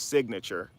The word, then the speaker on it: signature: dotted line, which is signature. But sign in nature, the G is silent in sign, right? But when you put sign and nature together, you say signature, and you totally look